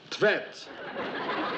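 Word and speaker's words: Tvedt: How would you pronounce that then? Tvet.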